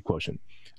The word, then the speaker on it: quotient: the concept of intelligence quotient or quote or however you want to pronounce that push should be quotient uh refers to it's